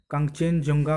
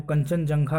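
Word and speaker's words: Kanchenjunga: हम इसकी स्पेलिंग देखेंगे इसमें भी आप देख सकते हैं कि यह एन के बाद जी आया हुआ है है और शायद हम इसको पढेंगे तो हम यह क्वेश्चन कंचेनजुंगा पढेंगे है लेकिन इसका उच्चारण है वह कंचनजंघा ही होगा एंड के बाद जो जी है वह यहां पर साइलेंट है मैं इसी प्रकार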